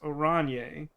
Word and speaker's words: Oranje: And then orange spelled with a J is pronounced Oranje.